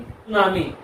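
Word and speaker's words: tsunami: सुनामी T silent है, जापानी शब्द है, जिसका मतलब क्या होता है, ऊंची लहरें।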